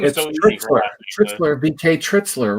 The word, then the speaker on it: Tritschler: nice about that because yeah my name is trixler bk trixler right trixler okay i'm trying i'm